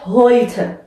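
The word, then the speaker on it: heute: اما در زبان آلمانی اگه آخر کلمه ما یه ا داریم حتما باید اون ا رو هم تلفظ کنیم، پس اینجا خونده میشه هویته.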